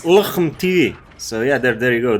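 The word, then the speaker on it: LHMTV: Pronouncing that light tank on the British Tech 3, Luchem TV. It's Luchem TV.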